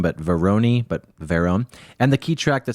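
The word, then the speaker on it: Varone: From the research I have done, that's how you pronounce his last name, but Verone.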